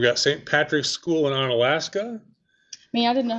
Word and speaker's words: Onalaska: Patrick's School in Onalaska. I mean, I didn't know how to pronounce it. I'm glad you said that. Onalaska.